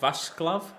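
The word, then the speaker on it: Václav: like he said it's his first name is vaslav is the the right way to pronounce it I've not seen it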